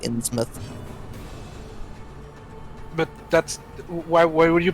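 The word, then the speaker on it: Innsmouth: mouth uh in smith ins mouth uh it's actually usually pronounced in smith but that's why would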